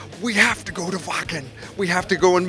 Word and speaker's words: Wacken: It's called Welcome To Wacken? Wacken. Oh, I have to pronounce it correctly.